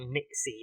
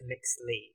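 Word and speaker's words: Nyxly: I think it's not Nixie. I thought I literally thought she said Nix is spelled like Nixie, but no, it's Nixley. Nixley, NXLY.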